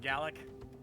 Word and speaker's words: Gaelic: Gaelic, not Gallic. No, it's pronounced No, Gallic. it is pronounced Gallic. It's pronounced Gaelic if you're Irish. It's pronounced Gallic if you're Scottish.